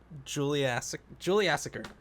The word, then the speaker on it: Juliassacre: Juliassacre.